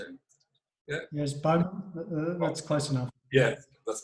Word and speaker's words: Bowman: Yeah, Yes, Bowman.